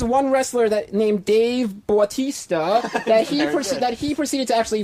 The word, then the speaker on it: Bautista: Some people know Dave Bautista as Batista. Right. Bautista. How do you pronounce it? Batista. Oh, okay. Batista.